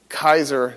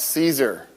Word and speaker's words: Caesar: Anyway, and then Ae was probably pronounced I. That's why it's Kaiser.